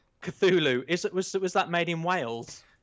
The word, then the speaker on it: Cthulhu: How'd you pronounce that? Call of Cthulhu. Cthulhu.